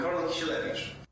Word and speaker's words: Karol Kisielewicz: Hi, I'm Karol Kisielewicz.